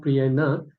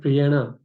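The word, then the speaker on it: priyāṇa: See, also one thing about pronunciation, notice here, if there's a dot underneath the N here, then that is an ana, it's a soft noun. not Priyana, but Priyana.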